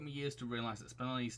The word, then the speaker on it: Spinelli: years to realize that spinelli's name comes from the gemstone spinel that's how it's supposed to be pronounced because i was thought it was pronounced spinal like spinal tap ah